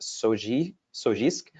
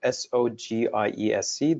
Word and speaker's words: SOGIESC: And there's also a recent move by some groups to adopt a new acronym that is pronounced SOGIESC, or SOGIESC, that stands for Sexual Orientation, Gender Identity and Expression, and Sex Characteristics.